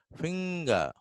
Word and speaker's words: finger: And when it comes to middle position, we have finger, finger. R again. See, R is not pronounced.